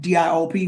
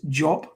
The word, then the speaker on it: Diop: But in West African language, it comes out as a DI, like Shekanta Jop, Shekanta Diop, DIOP, we'll call them Diop, but it's Jop.